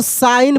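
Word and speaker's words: sign: इसको हम लोग साइन पढ़ेंगे। यानी यहां पे जी साइलेंट है।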